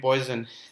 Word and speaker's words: Poisson: to assume poisson distribution so this is a french word uh it was the name of a french scientist so in french you